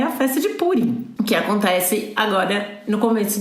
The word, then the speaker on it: Purim: Purim ou Purim é sempre o grande problema. Do ponto de vista linguístico, purista, seria Purim, mas a hegemonia Ashkenazi venceu. E como Ashkenazim pronunciam as coisas como paroxítona, então virou Purim.